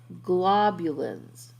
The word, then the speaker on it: globulins: we're now talking about globulins so globin and globulins there's an extra syllable in there and the different globulins